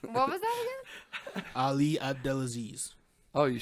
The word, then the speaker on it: Abdelaziz: ] his name what was that again Ali abdelaziz oh you said it right then you did